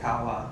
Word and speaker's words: kawa: actual pronunciation for us so like I would say to say love I would say Kawa which I would write as k um a with a macro W Miguel Costa would write